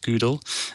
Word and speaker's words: GDAL: or gdl gdl and the author pronounces it google um and gdal is